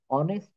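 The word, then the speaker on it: honest: না উচ্চারণ কিভাবে বলি my father is অ্যান অনেস্ট doctor তো এখানে হনেস্ট এর উচ্চারণ এইচ এর উচ্চারণ হয়ে যদি অ এর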